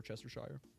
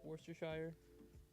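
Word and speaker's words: Worcestershire: it would be War Chester Shire but that is not how it is said yeah I thought it was just wster Shire I mean there's I think regionally it has different way like different pronunciations but whatever I mean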